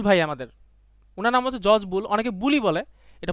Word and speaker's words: Boole: রং বলে বুলি বলে, আসলে বুলি না, এটা বুল।